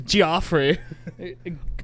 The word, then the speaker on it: Geoffrey: jesus oh jeffrey tater the g too not a j it's not the normal golfery geoffrey yes i used to pronounce that as again just that's how i pronounce that geoffrey this guy's name is joffrey my name's